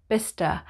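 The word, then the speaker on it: Bicester: not glochester but gloucester number 16 is bista bista there's a very famous outlet there called vista village just outside of oxford and it's pronounced bista now the next group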